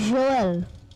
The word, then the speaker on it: Joël: How you say it in French is actually Joël.